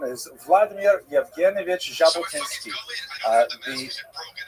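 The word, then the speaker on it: Jabotinsky: In order to make the Jack sound, you actually have to add a D to the Russian alphabet. So his name is actually Jabotinski. If you imagine that's the way the Frenches spell it with a J as well, but it's often transliterated into English because we don't have the sound so popular as simple J.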